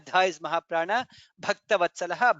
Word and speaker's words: भक्तवत्सलः: In the second line lokabandhuhu dha is mahaprana, lokanathaha dha is mahaprana, madhavaha dha is mahaprana, bhaktavatsalaha bha is mahaprana.